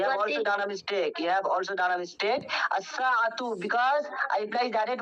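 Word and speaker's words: الساعةُ: The i'rab will be as-sa'atu. Okay? As-sa'atu, not sa'atun.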